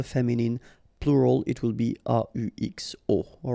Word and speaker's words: aux: And then a plus les will become o, aux, but then remember that phonetically it's o.